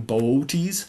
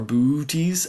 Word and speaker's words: Boötes: this is AR Taurus in boties or booty um however you'd like to pronounce it uh that constellation is